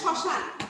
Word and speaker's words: শ্মশান: এখন কি দেখো শ্মশান, এখন যদি এটাকে আমি উচ্চারণে ভাঙতে চাই তাহলে দেখো তালিকার স চন্দ্রবিন্দু, তালিকার স আকার দন্তান্ন শ্মশান, ঠিক আছে? চন্দ্রবিন্দু উচ্চারণটা দিতে হচ্ছে।